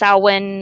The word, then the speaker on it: Samhain: around the day called saman or depending on how you Samhain like it's about si ma che i n pronounced Alwyn or Samhain or so many different ways of pronouncing it and then some